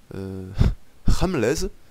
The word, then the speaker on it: HRMLEZ: son adversaire du jour, Ramlez, Ramlez Papabi, Ramlez Pepebi, ouais, on va prononcer ça à l'anglaise, de la team Ramlez,